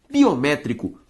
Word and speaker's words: biométrico: logo uma palavra proparoxítona ou seja biométrico proparoxítona físicos proparoxítonas melhor dizendo biométrico antepenúltima tônica assim como físicos Então dessa